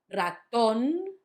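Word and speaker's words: ratón: So, the first one is on the last syllable. Raton. Not raton. Raton.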